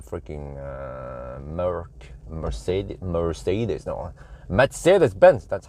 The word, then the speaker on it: Mercedes-Benz: horsepower in the freaking uh Mercedes Mercedes no Mercedes-Benz that's how you pronounce it correctly not like the like the